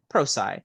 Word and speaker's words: Prosci: She is also a certified ProSci. How did you pronounce that, Carol? ProSci, thank you.